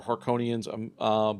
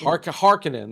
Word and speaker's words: Harkonnen: right, but they are Harkonians. But like they're Harkonnen, I think. Harkonnen. That's how they say it Yeah. in this movie. Although I've heard it pronounced differently, but they're kind of evil, very imperialistic.